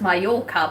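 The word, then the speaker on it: Mallorca: So now I'm getting a gentleman that reports from I think it's pronounced my yorker but it's spelled Malora so I always say it that way.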